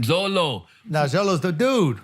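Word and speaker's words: Xolo: I can't pronounce it how do you pronounce that XO l oh Zolo man Zolo now Zolo is the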